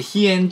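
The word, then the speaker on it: 飛燕: 飛ぶツバメと書いて飛燕と読みます。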